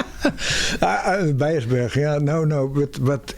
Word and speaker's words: Beijersbergen: and then they find the Dutch do not pronounce the letter N on the end of a word. Oh, we don't think it's necessary. Because we want to have Beiersberg.